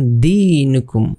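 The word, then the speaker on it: دِينُكُمْ: এখানে আবার ই আছে এক আলিফ টানতে হবে এখানে কারণ জের বাম পাশে জমালাই ইয়া আছে জের বাম পাশে যখন জামালা ইয়া থাকবে তখন এটা মদের হরফ হয়ে যাবে মদের হরফের বেলায় এটাকে আমরা এক আলিফ টানবো লাকুম দিনুকুম লাকুম দিনুকুম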